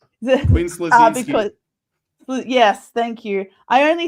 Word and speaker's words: Quinn Slazinski: Quinn Slazinski.